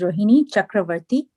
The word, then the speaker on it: Rohini Chakravarti: um my name is rohini chakravarti uh it's pronounced just as it's spelt long but i don't